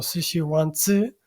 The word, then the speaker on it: Sixiwanzi: Esto que veis en esta imagen es un plato tradicional chino llamado Shishiwanzi, aunque creo que la pronunciación más aproximada sería algo así como Shishiwanzi.